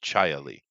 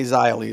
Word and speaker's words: Xia Li: Well, just so you know, her name would be pronounced Chaya Lee. Well, they say Xia Li, so.